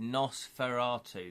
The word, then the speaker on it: Nosferatu: That's how you pronounce it, Nosferatu.